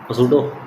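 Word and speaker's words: pseudo: और spring force और सूडो silent होता है सूडो force gravitational normal friction tension spring and सूडो सबके बारे में बता दो।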